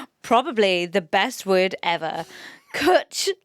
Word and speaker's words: Cwtch: So it's spelled Cwtch. Yeah. So Cwtch, like butch, simply means a hug full of love.